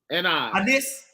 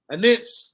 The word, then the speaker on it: anise: For ye pay tithes of mint and pronounce that word for me, Hebrew. Anise. Anise.